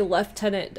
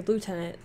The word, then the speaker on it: lieutenant: french army also reminded you guys say lieutenant over on uh in europe right lieutenant we say lieutenant over here um is it spelled